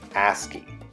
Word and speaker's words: ASCII: computer word I know ASCII rhymes with nasty that stands for American